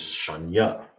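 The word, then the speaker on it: שנייה: Second is sha nya. That's how you say second.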